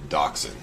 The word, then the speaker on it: dachshund: dachshund yeah it's spelled like Dawson but it's pronounced dachshund yeah it's German it's like a mini version